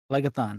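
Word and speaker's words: Phlegethon: the river of lobby it rhymes with megatron goes through rhymes with megatron wrist sacking himself no no you see it's it's the river flag-a-thon legathon that is it that is correct i know i'm not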